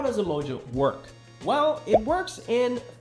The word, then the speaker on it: UMJA: Well, UMJA, pronounced Umoja, is the native protocol token of Umoja.